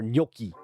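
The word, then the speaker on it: gnocchi: Or Noki. How do you Did I say it right the second time? cuz I'm pretty sure that's how I've been saying it my entire life is like Loki but uh yeah it's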